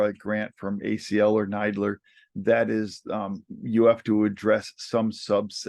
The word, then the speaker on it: NIDILRR: um so um neidler we pronounced that acronym nidler when you look at it you might think it's niddler but um we like the sound of nidler better so um that's